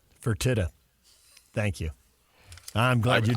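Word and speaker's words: Fertitta: thank you how do you say that name fertita thank you I'm glad you Jo back I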